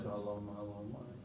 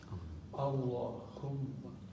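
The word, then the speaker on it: اللهم: Maka ketika baca Allahumma, coba baca Allahumma. Jadi jangan cuma Allahumma. Haknya ha besar. Allahumma.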